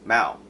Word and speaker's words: Mao: There's A and O, so plenty of people have pronounced my name Mayo. And sorry, but I'm not Irish. Okay, I'm not from County Mayo. It's Mao.